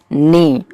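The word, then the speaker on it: gnaw: डब्लू नो आपको बताऊ इसमें जो जी है ये साइलेंट है और इसकी जो प्रोनंसिएशन है ना वो नी ही है आप चाहे तो सर्च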